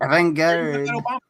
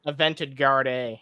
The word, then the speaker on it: avant-garde: Avant-garde. What's that? What were you saying? Oh, I was just gonna say, how did Keon say it? It's avant-garde. Yeah. Avant-garde. Avented Garde, yeah.